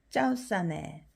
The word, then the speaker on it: เจ้าเสน่ห์: 짜오싸네. 짜오싸네 매력적인. 우선 발음 들어보세요.